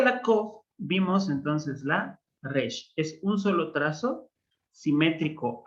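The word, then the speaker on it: ר: Van a escuchar que los israelíes lo van a pronunciar en la garganta. Ellos van a decir no Resh, sino Resh. Ajá. Como una R alemana o una R francesa. Ajá, re, re. Sin embargo, está aceptado cualquiera de las dos formas de pronunciación.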